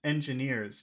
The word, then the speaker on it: engineers: And in that word engineers, which syllable has all of the sound? Engineers. Engine, That would be engineers, nears, nears. That's right. It's nears.